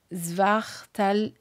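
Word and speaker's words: Svartalfheim: Alors peut-être que la prononciation des royaumes, c'est Vaneim, Alphéim, Jotuneim. Voyez, ça me fait penser à ça. Svartalfeim, Nilfeim. Voilà, du coup, ça vous donne une idée de prononciation aussi.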